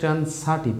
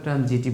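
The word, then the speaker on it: transitive: এটার উচ্চারণ অ্যাকচুয়ালি ট্রান্সাটিভ, আমরা ট্রানজিটিভ বলি, হ্যাঁ ট্রানজিটিভও বলি।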